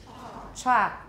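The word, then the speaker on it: chalk: Cha, we don't pronounce the L.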